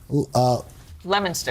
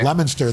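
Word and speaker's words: Leominster: This is Lemonster. Lemonster, thanks. Nothing is spelled we the way heard it's about said.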